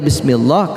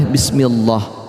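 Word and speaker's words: بسم الله: bismillahirohmanirohim Pasti tadi baca bismillah karena lafadz Allah di situ lam jalalah lam lafal Allah di situ diawali dengan harakat kasrah dibaca tarqiq atau tipis bismillah tidak boleh bismillah ya bisa Hai lahirmu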